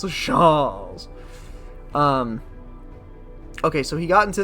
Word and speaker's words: chaise: I threw myself into the how do you pronounce that? Yeah. It's like it. Oh, it's chaise.